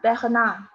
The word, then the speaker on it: Bernard: Bernard 没有 de，Bernard 没有 de。